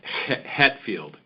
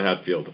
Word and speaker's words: Hetfield: And and just for the record, my last name is pronounced Hetfield. Hetfield. Uh not Hatfield.